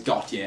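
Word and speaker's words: Gotye: Suddenly everybody's like, God, and I always thought it was just Got, and that was his name, but apparently it's Got Yeah, and I've been saying it wrong, which is a stupid name for starters.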